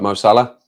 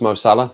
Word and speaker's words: Mo Salah: live chat moso look masala it's pronounced Mo Salah right okay no no